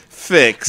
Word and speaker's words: Fix: don't believe that frick's frix is a word fix but no but you're right dan i'm the